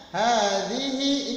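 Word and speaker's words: هذه: Hadhihi, ingat hanya panjang maka menggunakan strip di atas. Zihinya pendek zihi ya. Ingat zal itu tulisannya D sama Z ya.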